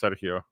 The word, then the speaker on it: Sergio: The given nickname for my name, which is actually pronounced Sergio in Spanish, was.